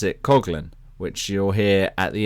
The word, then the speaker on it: Coughlin: me but we in England we would normally pronounce Natalie's name coflin and yet she pronounces it Cogan which you'll hear at the end when she